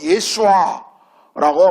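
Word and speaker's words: ישוע: 예수라는 이름은 히브리어로 예수아라고 말합니다. 우리가 그걸 번역한 것을 예수라고 했습니다만 히브리어에서 아람어 그쪽 동네 표현 발음으로는 예수아라고 말하죠.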